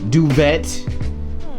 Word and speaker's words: duvet: The Duvet, that's how you say it in French, is from Buffy.